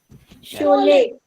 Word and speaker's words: Sholay: I don't know how to pronounce that. Sholay.